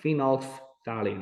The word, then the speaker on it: phenolphthalein: my students to notice we've got fenolf is the first word and thaline is the second word phenolphthalein i get them to say it like that phenolphth valley so you've